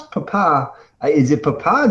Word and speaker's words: Papa: And you pronounce papa. Is it papa, not papa? Like, did I mispronounce that? It is not papa. So when you're communicating over your equipment in the military, you emphasize the papa.